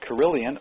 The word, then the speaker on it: Carillion: And Lee is the Managing Director of Carillion USA, which, as a matter of interest, Carillion rhymes with million, and is also, it's a fighter in the Star Wars action series.